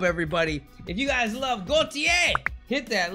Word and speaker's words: Gotye: I've been pronouncing it Gotye. That was wrong. It's actually Gotye.